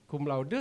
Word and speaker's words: cum laude: Bacanya memang cum laude ya, karena saya belajar dari Pak Dede, bahasa Latin itu apa yang ditulis itu yang dibaca gitu ya.